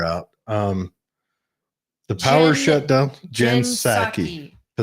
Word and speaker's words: Psaki: The power shutdown, Jen Psaki. I think the P is silent.